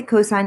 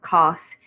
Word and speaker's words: cosine: sine cosine we again we always say cosine even though we abbreviate it as cos don't say cos right so cosine of